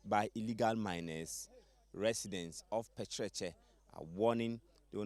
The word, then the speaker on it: Pekyerekye: This how do we pronounce it? Pekyerekye? Pekyerekye.